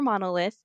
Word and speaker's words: Manalyth: So, starting with your band name, which you said could be pronounced Manalyth or Monolith, and Right.